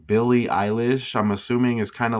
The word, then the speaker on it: Eilish: So, I mean, you'll have look into the O'Connell thing, but you get Eilish, which kind of rhymes with Irish.